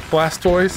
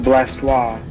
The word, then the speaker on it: Blastoise: you mean sunday supper blast toys he's looking like he's coming over and getting a plate he's ready to go no it's it's pronounced blastoise blessed yes blastoise glass